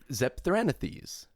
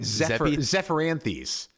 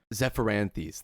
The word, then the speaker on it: Zephyranthes: I think Zepthranithes. Yeah. Something like that. No, wait. Zephyranthes. Zephyranthes. Thank you. Because it's a Zephyr Anthes.